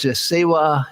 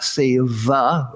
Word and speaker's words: Sewa: is that Sewa International, they spell it S-E-W-A, not Seva with a V, but Sewa is the same word. It's just in some parts of India, it's pronounced more V-like, in some parts of India W, and so this organization has taken the W spelling.